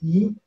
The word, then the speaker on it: yi: Le terme chinois, c'est yi. Ça s'écrit Y-I. Mais ça se dit I comme la lettre.